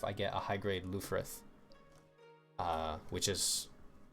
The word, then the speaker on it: Lfrith: Apparently in Japan it's pronounced Rubris, which I technically prefer, but I don't really know if that's the right way to say it.